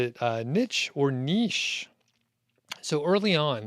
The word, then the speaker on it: niche: if i remember right he did say niche so i think niche is probably correct but niche is often acceptable and that is what i say i think people are happy with either either one shah what's going